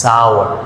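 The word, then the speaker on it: sour: সাওয়ার অর্থাৎ আরের উচ্চারণটা তেমনভাবে হয় না, সাওয়ার।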